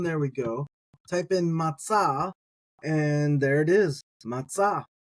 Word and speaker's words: מצא: and we've worked our way down now to matzah.